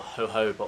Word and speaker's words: jojoba: Another ingredient I recommend, and another one of my favourites actually, is jojoba oil, or jojoba oil is actually how it's pronounced.